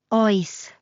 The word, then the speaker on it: Oes: Oes. It even rhymes with choice.